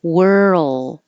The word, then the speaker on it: world: R to the L, keep making sound. And that's where the Earl sound comes from. But then you have to hold it in the L position for a long enough time that you can hear the L. If not, it will sound like word, like WORD.